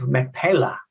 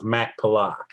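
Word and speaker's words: Machpelah: insights and mystery, and it's the Cave of Macpalla, I think is how you pronounce it. Please correct me as you get into it, John. Right, yeah, your pronunciation was close enough, Michael. Cave of Macpalla.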